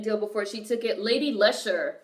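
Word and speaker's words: Lady Leshurr: Lady Lesher. Lady Lesher is spelled Leshurr.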